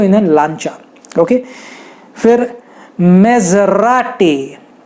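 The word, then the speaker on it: Maserati: फिर मेजराटी, ज होता है उसमें, ज नहीं होता, ज, मेजराटी, ओके, मेजराटी।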